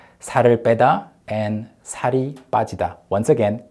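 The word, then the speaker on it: 살 빼다: are high pedda and high e+ more naturally pronounced sorry beta and sorry Partida once again sorry beta and sorry body de both are translated into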